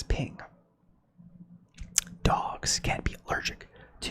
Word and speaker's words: PNG: so let's do this creators of the png file format wanted to be pronounced as ping dogs can be allergic